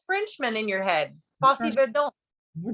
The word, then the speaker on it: Verdon: Verdon.